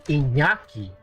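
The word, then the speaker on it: Iñaki: So, our name is actually Inyaki. in nyaki, but it's going to be inaki because that will be more easier for the Japanese to pronounce because we're going to be in Japan and it's just, you know, it sounds it sounds eastern even though it's a Basque name.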